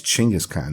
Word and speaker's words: Genghis Khan: name wrong you spell it wrong and you pronounce it wrong his name is chingus khan not genghis khan why don't you say it